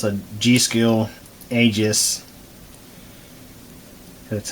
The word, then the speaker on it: Aegis: look at a new module it's a g-skill Aegis that's how you pronounce it dr4 3200 so I'm going to